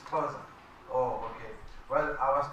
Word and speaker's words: Khoza: It's Khoza.